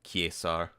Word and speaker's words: Caesar: refer to as Caesar the technical pronunciation is more along the lines of quar kesar but uh I I call the game Caesar the the city building